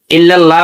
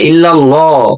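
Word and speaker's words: إلا الله: ইল্লাল্লাহ বলে ইল্লাল্লাহ। লাম মোটা হবে। আল্লাহ শব্দের ডানে জবর এবং পেশ থাকলে লাম মোটা করে পড়তে হয়।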